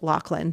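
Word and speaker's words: Loughlin: episode by the way I know a lot of people say Lori L but on her IMDb page in the trivia section it says that it is pronounced llan so hey I'm not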